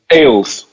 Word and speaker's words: Ailes: Ailes. Roger like multiple yes. Ailes. Roger Ailes. Like more than one beer.